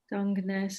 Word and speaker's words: Dungeness: Dungeness is pronounced line with lunge and then Arness.